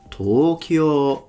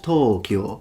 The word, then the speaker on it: Tokyo: of Japanese, but the way the Japanese say it is Tokyo. So from low to high, it's a heiban pattern. Tokyo ga, Tokyo wa, not Tokyo, like he says.